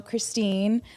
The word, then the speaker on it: Kristen: So, Christine, if you're going to read my name, it's spelled like Kristen, but I say there's an imaginary e, so it's Christine.